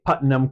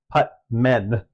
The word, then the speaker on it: Putman: S was Wyatt Putman I keep I keep wanting to say putam because I know a putam guy but it's putt men so if I accidentally